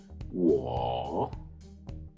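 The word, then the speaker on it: 我: in chinese the first one i chinese is war then we have you singular which is knee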